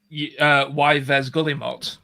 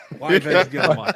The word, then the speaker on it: Yves Guillemot: How do you pronounce it? Who? The guy's son. Whose son is running it? Yves? Yves Guillemot. Yes. Yves Guillemot.